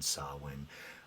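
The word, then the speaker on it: Samhain: uh Misfits and uh Sam Hayne Celtic pronunciation sawin um like I even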